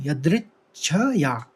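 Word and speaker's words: यदृच्छया: में दो शब्द है य द में ऋ की मात्रा है यदृच्छ या और द में और द के ऊपर आघात भी है तो च का दो बार उच्चारण निकलेगा यदिच्छ फिर चोप पेंगे फिर पन्नम दो म न है और उसकी आग है विसर्ग अनुस्वार है म का चोप पन्नम यदच्छ या चोपपनम और दूसरे चरण में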